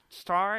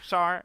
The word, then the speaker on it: Tsar: Star, is that how you say it? Yeah. The T is silent. The T is silent, I believe. Oh, Tsar.